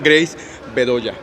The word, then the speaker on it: Grace Bedoya: Lectores de revista Sector Nostalgia, me encuentro con, voy a decirlo así y tú me corriges, a lo mejor la pronunciación, Grace Bedoya. Sí, muy bien.